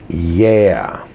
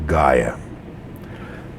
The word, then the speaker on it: Gaia: Yeah is how it's properly pronounced, but in English they say Gaia.